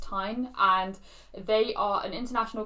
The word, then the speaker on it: TIJN: it's actually pronounced t-i-j-n but it's pronounced tine and they are an